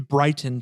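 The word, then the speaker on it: Briton: yeah that's like yeah no it's b r i t o n which reads Brighton to me he believes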